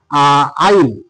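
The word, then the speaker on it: isle: এস কিন্তু কোন sound দেয়নি তারপরে দেখ তোমার আইল আইল আইস আইল আইল মানে হচ্ছে দুটো জমির মাছ দিয়ে যেটা হাটাহাটি করার জন্য থাকে সেটাকে বলা হচছে আই।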